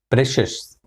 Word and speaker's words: precious: Next word is precious. Precious. It's not precious. It is precious. Precious. Precious. Not shush, but shush. Precious. 2-syllable word.